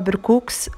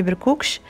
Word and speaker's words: بركوكس: اكله امازيغيه او سوسيه 100% اللي هو بركوكس او لا بركوكش، يعني كل واحد حنا كنطقوها بالسين ماشي بالشين، كاليتي نطقها بالشين يعني بركوكش.